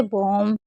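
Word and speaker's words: bomb: तो देखिए अगर कभी भी आपको एम और बी साथ में दिखे तो हमेशा आपको बी को साइलेंट रखना है। जैसे बॉम, टॉम, कॉम और लैम। एम और बी साथ में होगा तो क्या पढ़ेंगे, हम बी को नहीं पढ़ेंगे।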